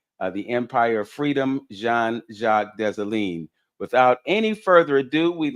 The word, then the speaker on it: Dessalines: Marie-Claire Heureuse Félicité Bonheur Dessalines is her full name.